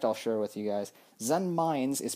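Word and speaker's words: Zenmaines: share with you guys zen mines is pronounced zen mines uh because he's actually supposed to be a landmine hence that pronunciation and in japanese i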